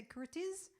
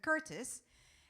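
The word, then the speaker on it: Curtiz: is that how you pronounce it whether you're spelled with a zed so you say curtis okay so curtis and starring humphrey borgardt and ingrid bergman premieres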